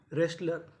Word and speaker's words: wrestler: Right, written, wrong, रेस्लर। तो rule क्या था? अगर आपको आर से पहले डब्ल्यू लिखा मिले तो हमें डब्ल्यू का उच्चारण नहीं करना।